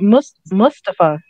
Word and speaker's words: Mustafa: It sounds like Mustafa. Mustafa. So I said it right.